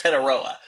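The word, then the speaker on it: Tetairoa: It's not that hard. It's Teteroa but no one can say it here.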